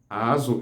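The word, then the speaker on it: azụ: Azu is spelled as azeo, azu.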